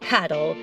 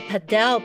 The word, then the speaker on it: Padel: that it is called paddle but the padel pronunciation is just because the sport is so big in Spanish speaking countries and this is the way it is pronounced by Spanish speakers duh it was so